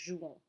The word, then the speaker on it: jouons: Don't pronounce the S here on the end, just jouons.